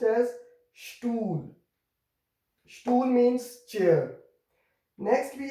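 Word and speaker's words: Stuhl: So here it will be pronounced as stool.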